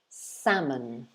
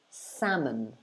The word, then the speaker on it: salmon: the phonetics okay so completely forget the l and just say salmon salmon so it's so the o at the end of the word becomes a schwa which if you've watched my pronunciation lessons before you'll know that the schwa is a very common sound especially in british english the schwa is that kind of upside down e symbol you can see before the n and it's pronounced uh so we say salmon